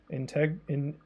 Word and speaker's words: Integral: Is that integral? Integral? Sorry if I'm saying your name wrong. The best dungeon of the game, really? I think that's a pretty good take. I can see that. Yeah, this is... Yeah, this kind of is the best dungeon in the game now that I think about it. It's probably got like a really good boss. It's pronounced integral, don't worry.